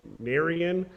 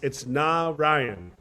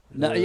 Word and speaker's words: Naryan: I think I had originally pronounced your first name Naryan, and it's Naryan. Naryan.